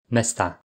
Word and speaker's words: mestá: Ville donne Mesta au pluriel avec un A long, mais Miesto. Endroit donne Miesta avec un A court, parce qu'il y a une diphtongue dans la syllabe précédente.